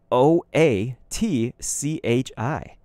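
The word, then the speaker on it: Oatchi: me I'm finally falling in line said is Ochi the dog awesome Ochi is the best and so that you know it is spelled o a t c h i oat Chi excuse me Captain Olimar is Shipwrecked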